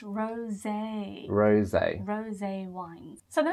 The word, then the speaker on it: rosé: It's not a rose, is it? No, it's pronounced rosé.